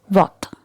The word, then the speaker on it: what: For example, what. Here letter A is pronounced as O.